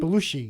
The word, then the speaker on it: Belushi: How do you say his name? Belushi. Belushi. I like the way you say it, Belushi. Belushi. Like the whale.